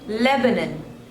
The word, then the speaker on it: Lebanon: Kyrgyzstan Kyrgyzstan next is Lebanon Lebanon so there are three slavers and the stress is on the first one Lebanon Lebanon Lebanon next